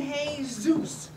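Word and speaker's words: Jesús: it's manolo and jesus monolo and hey zeus you don't pronounce the j well where is there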